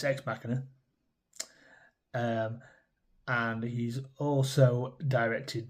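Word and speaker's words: Ex Machina: How do you pronounce it? Me and my wife have arguments all the time about that. It's Xmachina.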